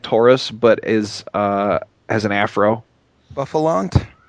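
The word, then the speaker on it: Bouffalant: Buffalont, I think it's pronounced. Yes, Buffalant.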